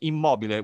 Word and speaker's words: Immobile: Is called, this is the Italian pronunciation, Immobile, which corresponds to the American word immobile or motionless.